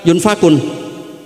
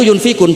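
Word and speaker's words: ينفقون: beliau baca anfiqun artinya kalau kamu miskin pas bacanya yunfakun Qurannya itu yunfikun bukan jadi itu ijtihad jadi ijtihad itu sesuatu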